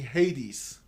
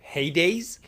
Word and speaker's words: Hades: king of underworld oh Hades I got it okay Hades Hades Hades okay I got it the reason I I say it like that is because of Hades town you know that heavy